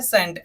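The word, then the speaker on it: scent: कौन-कौन से शब्द में होता है पहले है सेंट एस सी आई एन सेंट में हमारा साइलेंट रहेगा इसको हम क्या पढ़ेंगे सेंट का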